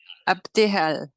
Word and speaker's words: Abdehal: Et maintenant, j'espère que Abdehal. Ah, c'est comme ça qu'on dit ton nom. Oui, tu l'as dit parfaitement. C'est la première personne à prononcer mon nom.